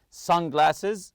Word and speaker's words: sunglasses: accessible from front compartment sunglasses also the word Sun you have to stress the first part here some people like